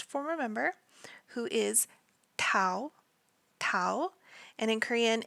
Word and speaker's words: Tao: have our last former member who is Tao Tau and in Korean it's spelled Tao ta o Tau in his birth